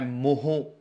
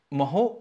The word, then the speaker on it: mho: ओम और मीटर, तो ओम का उल्टा लिख देते हैं MHO। ठीक है, अब इसको आप जैसा प्रोनाउंस करना चाहें कर सकते हैं, मैं मोहो बोल देता हूं।